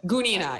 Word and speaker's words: Gunina: girl, Vanina, Grandmaster Vanina Gunina. Vanina Gunina. Somebody said I said that wrong, though. I think it's Gunina, right? Gunina, yeah. I believe the... Gunina, yes. Yeah, I believe the accent's on the U.